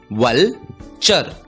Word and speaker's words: vulture: दोस्तों, इस शब्द में भी TURE आया है। हमने सीखा TURE का उच्चारण होता है चर और इसलिए इस शब्द का उच्चारण होगा वलचर, वलचर।